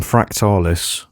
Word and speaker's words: Fractalis: So the name Fractalis, that's how it's pronounced by the way, is a fusion of the words fractal and spiralis, which is Latin for spiral.